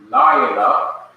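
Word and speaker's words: לילה: a word like Laila, notice that the first syllable in Laila has an accent mark, an accent symbol. This arrowhead represents in our Hebrew grammars an accent. So when you see a word that has this mark over the first syllable, you know that the first syllable is to be stressed or emphasized.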